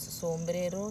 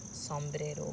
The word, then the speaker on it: sombrero: We Indians so always pronounce so, but in America I learned it can be saw or so. So few people pronounce sombrero, some people pronounce sombrero, both.